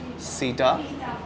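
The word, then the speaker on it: seta: फिर सीटा, इसमें ई साइलेंट है, सीटा।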